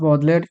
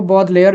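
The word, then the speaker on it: Baudelaire: हम इनको बॉडलेयर भी पढ़ सकते हैं, लेकिन लेयर नहीं, एक्चुअली ले, बॉडले हम, ठीक है, स्पेलिंग याद रखेंगे, प्रोनाउंसिएशन डजंट मैटर, क्योंकि हम लोग कितना भी करें कुछ ना कुछ वर्ड्स डिफरेंट रहते ही हैं, तो बॉडले बोलेंगे हम इनको।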